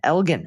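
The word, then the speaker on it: Elgin: That's a hardg in Elgen. Oh, Elgen, Texas.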